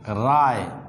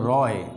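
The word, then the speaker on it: Roy: এখানে এক্সাম্পল লেখাও, মিস্টার রায়, বানান কিন্তু রয়, উচ্চারণ হলো রায়।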